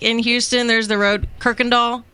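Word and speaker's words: Kuykendahl: It's like in Houston there's the road Kirkandall. There's not an R in there. It's K U Y but it's pronounced Kirkand Doll.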